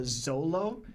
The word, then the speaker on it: Zoro: I don't know, bro, but I am happy that Stephen Paul actually said Zoro's name with the Zolo, because a lot of people like to go crazy over pronunciation of Zoro's name sometimes when like Lawrence or Lionel say it.